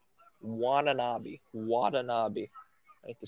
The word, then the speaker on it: Watanabe: Watanabe. That's how they're pronouncing it, the announcers. Watanabe.